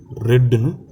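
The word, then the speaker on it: read: இந்த இடத்துல ரீடுங்கிறது ஸ்பெல்லிங் ஒன்றா இருந்தாலும் இதை நாம் பாஸ்ட்டுக்கு மாறும்போது ரெட்டுன்னு ப்ரொனவுன்ஸ் பண்ணணும்.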